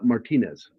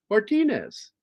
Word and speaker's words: Martinez: You don't have to roll it, but pronounce it close to the name Martinez. Uh, it's not Martinez.